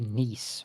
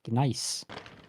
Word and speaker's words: Gneiss: It's so weird to hear you guys say niece when it's pronounced nice.